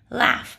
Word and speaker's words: laugh: with the g-h now sometimes this is silent but sometimes it makes the foot sound like in laughs ha ha ha ha